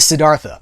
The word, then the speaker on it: Siddhartha: It's basically the Siddhartha. Is that how you say it? The Siddhartha.